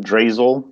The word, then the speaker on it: Zdrazil: my name is drasil that's how you pronounce that ridiculous name and I just skipped the first Z and give it a long a and you'll your life will be a lot easier I've been all over